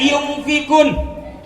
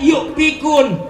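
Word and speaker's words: يُنفِقُونَ: Kalau ngaji yang bener nun mati bertemu fa hukumnya ikhfa. Dibacanya yumfikun, dengung. Karena nggak bisa makhrajul huruf, nggak bisa hukum ngajinya, nggak bisa tajwidnya, bukan dibaca yumfikun, tapi dibaca yukfikun.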